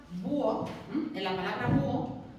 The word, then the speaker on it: búho: estén en contacto, porque la H no suena, y no impide la formación del diptongo o del hiato. Por ejemplo, en la palabra búho, tengo dos sílabas, y